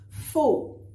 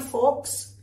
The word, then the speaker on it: faux: Faux. Not forks. Faux.